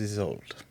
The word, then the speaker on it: Isolde: and my name is Isolde." What is it? Isolde? He's old. is old. Yes. ISOLD. Is he old? Yes. Spelled the same add an E.